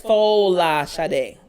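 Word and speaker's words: Folasade: It's like, it's Falashade. Because actually, that's all her middle name? Yeah, Falashade.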